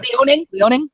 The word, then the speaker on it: Liaoning: lot of fossil records that show especially what Liaoning, China. I don't even know if I pronounced that correctly. Liaoning, we have a lot of province, yeah. Liaoning.